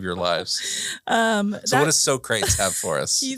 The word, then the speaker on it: Socrates: The second is from Socrates, aka Socrates. Socrates. For people that haven't seen, what is it, Bill and Ted's Excellent Adventure? Apparently that's how they pronounce it.